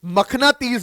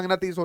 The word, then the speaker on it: मखनातीस: आपने शायद उनमें से दो को देखा होगा, उन्हें ' मखनाती' कहा जाता है। अगर मैं मैग्नेट का सही उच्चारण करूं तो वे 'मखनातीस' हैं। ये दो कैंडी की तरह हैं।